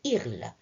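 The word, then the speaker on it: ils: Il avec S, il, ça se prononce il. Attention, on ne prononce pas le S.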